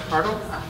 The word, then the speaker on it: Hartl: I'm going to introduce, and it's pronounced Hartl? Hartl